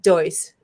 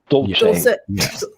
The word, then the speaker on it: Dulce: it Area 54 or 51, or was it Deuce? It was Dolce. Dulce. Yeah, totally different. There's a lot of different pronunciations.